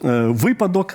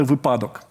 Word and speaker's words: випадок: колись Ви навчили мене разу так з 15-го говорити випадок а не випадок І от якось я